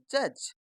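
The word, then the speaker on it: judge: तो इसमें अपने पास डी तो साइलेंट है ही और ई भी साइलेंट है। तो हम इसको क्या पढ़ेंगे? जज क्योंकि जी के बाद इ है तो इसीलिए इसको ग ना पढ़ के हम ज पढ़ेंगे।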